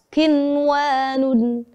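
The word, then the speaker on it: قنوان: Jadi saudara pendengar harus menjadi catatan khusus ya, karena ada bacaan izhar wajib yang dalam Al-Quran itu hanya ada 4, yaitu kata ad-dunya, ada bunyanun, ada sinwanun, ada kinwanun, yang harus dibaca izhar wajib.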